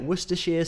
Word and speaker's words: Worcestershire: loud so that is how you say it Worcestershire sauce so I think the other source or pronunciation of the sauce is Worcester sauce and